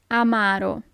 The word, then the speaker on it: amaro: Amaro. Amaro. So it's not amaro but amaro. The accent is on the second a.